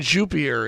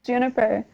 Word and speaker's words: Juniper: supposed to be on with us um June jupier is with is that how you pronounce the last name I feel like I'm saying your last name wrong it's okay like everyone does it's Juniper Juniper okay yeah okay because I want to